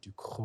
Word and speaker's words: Ducrot: And be like, that's actually how you pronounce it. Exactly. And people will be like, no, it's du Crow. And you'd be like, it's actually Duco.